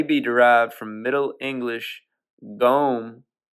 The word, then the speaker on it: gome: from Middle English gome it's like gnome but without the N after the G so just g o m e the English gome it says it twice gome or gome spelled the same way so I ain't sure